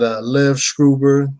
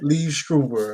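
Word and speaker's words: Liev Schreiber: You had Lev Schreiber playing Sabretooth. You say everybody's name wrong and shit, man. I always say his name wrong, don't I, man? You say everybody's name wrong. Leave Schreiber or whatever.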